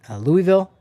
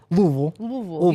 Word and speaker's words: Louisville: have the Kentucky Derby, which is in Louisville, not Louisville for us in Colorado. Louisville. You say it like you have a bunch of marbles in your mouth.